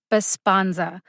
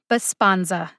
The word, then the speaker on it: Besponsa: second here we go bisponza b-e-s-p-o-n-s-a bosponza baspanza has three syllables like most three-syllable brand name drugs this one's pretty straightforward but let's say you